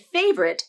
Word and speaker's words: favorite: Of the first 10 speakers, they all said favorite as 2 syllables. Favorite. I agree. I think favorite as 2 syllables is the more common pronunciation, especially when you use this word in a sentence or conversation. It's not a requirement, but most people will pronounce it as favorite.